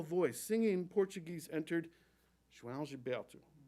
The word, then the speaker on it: João Gilberto: To even say his name required my mouth to not trust my eyes and find a new dance. The opening consonant J sounds like Jaja Gabor, or the OAO form a diphthong, kind of like ow with a swallowed ending.